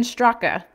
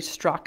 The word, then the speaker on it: Straka: Speaking of that, Brandon Straka, I think it's actually Strock and the A is silent, was arrested this week for incidents relating to the events that took place at the U.S.